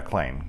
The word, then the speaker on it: Clayne: Yeah, Clayne.